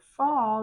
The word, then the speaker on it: fall: Fall, your mouth is open and your lips come in a little bit.